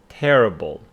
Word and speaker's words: terrible: So this one carries the stress on the second syllable, making it terrific, and this one on the first syllable, making it terrible.